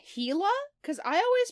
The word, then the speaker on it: Gila: learn one thing listeners it's pronounced heila monster why is that g there sometimes languages stop [